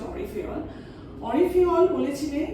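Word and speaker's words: Henri Fayol: এবার দেখা যাক অরি ফেয়ল, যাকে আমরা ইংরেজিতে হেনরি ফেয়ল বলি, কিন্তু অ্যাকচুয়াল প্রোনাউন্সিয়েশনটা হচ্ছে অরি ফেয়ল।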